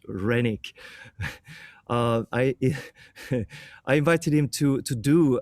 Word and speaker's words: Renick: So for this event, the DACA, I invited Renick to, I pronounce him in some kind of Austrian way. It should be just Renick.